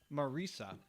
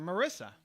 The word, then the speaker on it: Marisa: there's a woman who super successful entrepreneur, whose name is Marisa, and the way it's written, everybody calls her Marissa. Yeah. Because it just looks like that's what it'd be, Marissa, but she just pronounces it Marisa, and she's like everybody who, sees it, I have to tell them every time it's Marisa, and they keep messing it up, and then Eben Pagan gave her a solution.